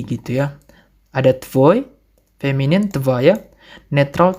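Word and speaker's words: твоя: Ada tvoi, feminin tvaya, netral tvayo, jamak tvoi.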